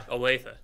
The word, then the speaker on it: Olathe: team side, Edina barely beat a team called Olathe North of Kansas, ran a perfect race. What was that pronunciation, Kyle? Olathe.